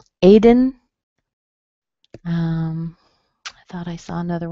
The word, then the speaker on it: Aiden: Aiden. So A-I-D-E-N. A is strong, and then dun has a schwa in it.